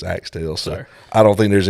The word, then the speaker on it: Axtell: Axtell. Axtell. Man, I told people there's no right or wrong way to pronounce it, because, man, I've heard, I think, 10,000 different pronunciations over the years.